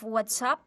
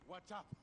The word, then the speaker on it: WhatsApp: on your telephone it's there's a debate on the pronunciation of WhatsApp WhatApp so some people from Laguna said Whata instead of WhatsApp well there you can